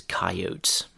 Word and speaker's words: coyote: Another thing we have around here, which I've heard but never seen, is coyotes. You can also hear that pronounced as coyotes. I say coyote, though.